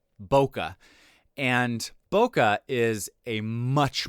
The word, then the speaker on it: Bokeh: and charting it's called bokeh I don't know if that's how you pronounce it that's how I always pronounce it it's b o k h bokeh and bokeh is a